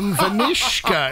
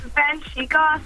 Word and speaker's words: Vanshika: Yeah, my name is Vanshika, so it's like, everyone pronounces my name as Vanishka, and then my last name is, I-Y-E-R, but everyone pronounces it as Liar with an L for some reason. Awesome. So I always have to tell them, no, it's actually Vanshika, and some cases it